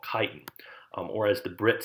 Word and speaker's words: chitin: This leftover skin right here is pure exoskeleton made up primarily of the polysaccharide we call chitin, or as the Brits say, chitin, not chitin yet.